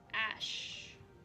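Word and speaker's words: æ: A-E symbol. Pronunciation. Ash. I mean, like r/old English, because I don't want to use goddamn. Okay, so it's just an A sound.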